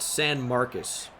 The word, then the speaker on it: San Marcos: Yeah, San Marcos is pronounced San Marcus.